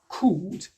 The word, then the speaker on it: could: And be careful with the pronunciation of could. The L is silent once again. Donc, on ne dira pas could. Non, pas du tout, mais on dira simplement could. Le L est silencieux.